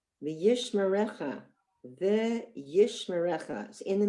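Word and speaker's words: וישמרך: V'yishmerecha. So we have the first syllable, v'yish, that's a silent shva, me-recha.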